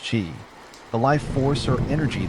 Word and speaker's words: qi: Despite its mysterious and sometimes misunderstood origins, at the heart of acupuncture is the concept of qi, pronounced qi, the life force or energy that flows through the body along invisible channels called meridians.